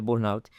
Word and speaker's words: burnout: Burn, burnout, aliás, perdão, com a pronúncia correta é burnout, ou por questões de crise de ansiedades severas, crises depressivas ou quaisquer outro tipo de adoecimento psíquico.